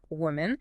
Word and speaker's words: woman: Singular woman, that first O sounds like the vowel in book or put woman. And the second syllable is reduced like men, woman.